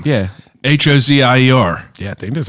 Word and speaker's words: Hozier: That's Hoosier. Oh, I never knew how to pronounce his name. Yeah. Hozier.